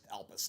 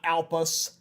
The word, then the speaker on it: Elpis: Elpis, not Alpus, Elpis.